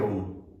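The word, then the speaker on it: ॐ: देखिए, सीधा बैठना है और 3 अक्षर है ओम, अ उ म। हम जब अ का उच्चारण करेंगे तो सीधा मणिपुर चक्र पे इफेक्ट आएगा। ऊ का करेंगे तो अनाहत विशुद्ध चक्र पे इफेक्ट आएगा। और जब म का उच्चारण करेंगे तो ज्ञान और सहस्त्र चक्र पे इफेक्ट आएगा। तो इस तरह से करते हैं। 70% अ और ऊ होना चाहिए और म को छोटा कर सकते हैं इस तरह से।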